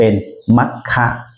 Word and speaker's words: มัคคะ: ทาง บวก อ ปัจจัย เรา จึง ออก เสียง เป็น มัคคะ ถ้า ไม่ มี อ